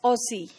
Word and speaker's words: Aussie: During the First World War, Aussie, that is pronounced as Aussie, Z sound, or sometimes it is,